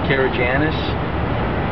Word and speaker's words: Karygiannis: we all know who you are, but I'm going to have to ask you to spell your name and pronounce it for me. Jim Karygiannis, J-I-M, Karygiannis, K-A-R-Y-G-I-A-N-N-I-S, Member of Parliament, Scarborough-Agincourt.